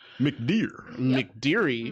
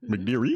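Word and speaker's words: McDeere: McDeary? McDear? McDear. McDear. Just because it ends in an E, it's not McDeary. You don't have to it's pronounce it. dear. Whatever. English language has a lot of silent E's.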